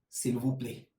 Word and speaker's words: s'il vous plaît: And the word for please is s'il vous plaît. So the word for please is s'il vous plaît.